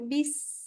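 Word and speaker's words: بسم الله: Bismillah. Oke. Stop. Tadi sinnya enggak kedengaran tuh bunyinya. Bis. Nah, tadi kedengarannya bismillah jadi enggak kedengaran ya.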